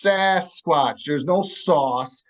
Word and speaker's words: Sasquatch: A lot of people pronounce it Sasquatch, like it's Sauce, sauce Sauce squatch, not squatch. Sasquatch, it's Right. Sasquatch.